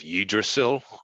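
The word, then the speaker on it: Yggdrasil: Gemini um you have yidrosil that's the correct pronunciation of it because it's Norse but uh you just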